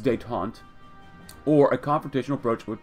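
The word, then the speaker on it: détente: I said detente. It's detente.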